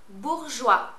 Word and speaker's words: Bourjois: Just say it phonetically like I say it. All right, let's start. Yves Saint Laurent. Vichy. Bourjois.